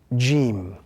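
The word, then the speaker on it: ج: So when the tongue actually rises and the middle of the tongue touches the gums or the upper palate, that gives us the sound Jim.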